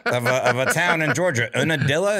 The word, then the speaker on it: Unadilla: a town in georgia unadilla is that how you pronounce it yeah forest told me that right before we started recording and i go what that's one dilla yeah um myron thank